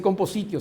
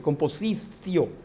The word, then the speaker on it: compositio: La compositio se escribe y se lee composicio. En la pronunciación romana no se dice compositio, se dice composicio.